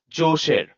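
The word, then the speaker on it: Djoser: This is pronounced as josher.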